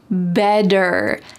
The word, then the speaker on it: better: This is common in the word water, or maybe you're wearing a sweater. This is typical of American English. So when you use this phrase, make sure that you pronounce it like this.